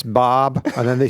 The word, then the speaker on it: Bob: People don't understand when I say my name like in Starbucks or whatever. So like I'm like Bob and they like what? And I know that I know that Americans go Bob.